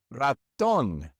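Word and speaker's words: ratón: This word ends with an N. So, normally we would stress the second to last syllable. But in this word, we don't stress the second to last syllable. We stress the last one. And so we must put an accent mark above the O.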